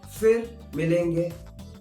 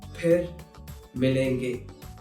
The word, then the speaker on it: फिर मिलेंगे: There's no f sound in Hindi.